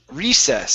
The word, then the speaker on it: recess: and next up is recess so the stress is at the very beginning recess recess okay good and the